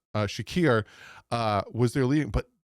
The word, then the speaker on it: Shakir: James Cook still went off and uh Kahil Shahir, butchered that name, Shakir uh was their leading, but that's it.